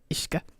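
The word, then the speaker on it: uisce: Yes, that's pronounced Ishka in Gaelic.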